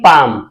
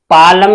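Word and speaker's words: palm: क्या रहता है साइलेंट एल साइलेंट रहता है एल का कोई उच्चारण नहीं करते हैं जैसे पी ए एल एम इसे हम पढ़ेंगे पाम पालम नहीं पढ़ेंगे इसे हम क्या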